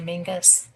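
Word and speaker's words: Menzies: It's spelled Menses, but they say Mingus.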